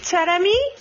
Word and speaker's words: Taremi: Because I want to talk about Mahedi Taremi.